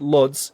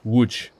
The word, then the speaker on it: Łódź: Okay, Łódź. Okay, it's not Lodz, it's Łódź.